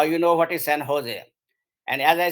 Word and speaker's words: Jose: at how it is spelling but it is pronounced at Jose and I had a great difficulty coming from India to understand I used to go in his when I was working for IBM in San Jose area because my suppliers were all there and